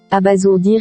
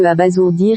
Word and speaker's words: abasourdir: Retenons donc que abasourdir est bien différent de sourd. C'est pourquoi sa prononciation diffère de celle des autres.